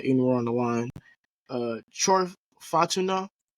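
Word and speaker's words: Fautanu: Troy Fatuna, did I pronounce that right? Fatuna or Fatunu? I've been hearing Fadanu. So, hey, Fatunu, okay.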